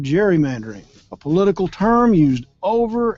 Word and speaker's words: gerrymandering: The hard G was soon softened to a J to produce the word gerrymandering, a political term used over and over for the past 200 years.